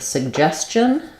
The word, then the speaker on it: suggestion: Second syllable stress. So we have two G's saying two different sounds here. So we have in the first G says the sug with the g sound, but it's unreleased. And then the second G starts the stress syllable, and that one is a j sound, like in jump. And then we have a suggestion. We have the ch sound for the letters TI.